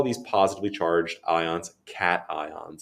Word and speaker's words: cation: these positively charged ions cat ions it looks like it's pronounced cashen but it is cat ion it comes from the